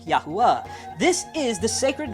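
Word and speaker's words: יהוה: Waw, Hey, Yod, Hey, Wow, Hey, which is pronounced Yahuwah.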